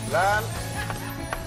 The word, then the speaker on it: lánzate: Lánzate. Acento en la N. En la, papá, lánzate.